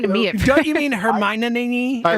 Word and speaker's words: Hermione: Good morning, Hermione. How are you, sir? I thought you were talking to me. Don't you mean Hermione?